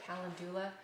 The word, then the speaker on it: calendula: I also brought along calendula to show you, or calendula. I've heard people pronounce it all different ways.